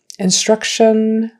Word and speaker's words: instruction: shun so it's attention instruction it's not on like a long o sound even though there's an o in there it's a u instruction attention concentration also